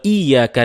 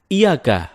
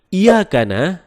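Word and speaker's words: إِيَّاكَ: Nah, kesalahan ketiga teman-teman, ketika kita membaca Iyyaka na'bud wa iyyaka nasta'in. Ada yang membacanya dengan Iyyaka, tidak menekan huruf ya. Seperti sebagaimana kita jelaskan tadi bahwa penekanan itu dapat merubah makna.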